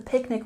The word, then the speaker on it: picnic: We have a stress on the first syllable in picnic.